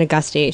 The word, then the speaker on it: Agosti: Jays Allison a gusty her name is spelled Allison agosti your name is pronounced Allison a gusty she is of the